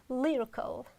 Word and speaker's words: lyrical: Next one is lyrical. Lyrical. Oh, you see, it's too short.